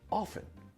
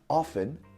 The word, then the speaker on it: often: the way I say often but it's also correct to say it with the T sound often and often both pronunciations